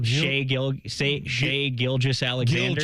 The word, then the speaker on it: Gilgeous-Alexander: you're going to be Oklahoma City star, you pronounce his name for me, Shai Gilgeous-Alexander. Gilgeous.